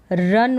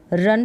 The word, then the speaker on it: run: डू नॉट मतलब कि मत करो, तो क्या मत करो, रन मत करो, ये है रन, RUN, रन पढ़ेंगे इसको, रुन करके उच्चारण नहीं होगा।